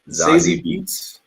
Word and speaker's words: Zazie Beetz: Zazie Beetz.